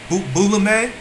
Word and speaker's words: Boulomai: and it sounds boulame. Spell it for him. And it's spelled Boulomai.